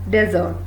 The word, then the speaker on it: desert: Now we will see DESERT. We pronounce it desert.